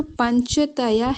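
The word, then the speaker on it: पञ्चतय्यः: वृत्तयः पंचतयः तयः, थोड़ा सा आधा हल्का साउंड देते हुए फिर तयः पंचतयः, थोड़ा आता है पर कम साउंड उसकी, क्योंकि वो आधा ही है इसलिए उसका साउंड जो आएगा वो कम आएगा।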